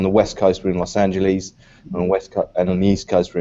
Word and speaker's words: Los Angeles: this will be the lesson for everybody it's Los Angeles not-not-not los entities I know it is Houston now Houston you